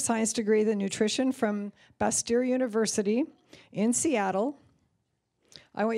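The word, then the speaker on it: Bastyr: degree the nutrition from Buster University in Seattle I want you guys to know that I really worked on pronouncing that University's name accurately because it's spelled bas tyr and so I just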